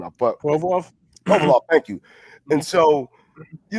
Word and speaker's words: Provorov: I can't get his name out, but Provorov, thank you.